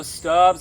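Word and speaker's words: Stubb's: spicy and it's also stubs it rhymes with grubs and it's from Texas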